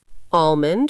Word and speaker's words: almond: Almond with a silent L.